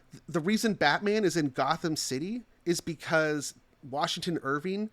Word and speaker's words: Gotham: If I pronounce it differently, you might get the meaning, and then I'll say what it is. Gotham? It's goat home. It's goat town.